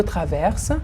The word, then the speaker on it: traverse: Je traverse، tu traverses، il ou elle traverse، nous traversons، vous traversez، il ou elle avec S traverse. S entre deux voyelles ما بين حرفين متحركين بتنطق Z.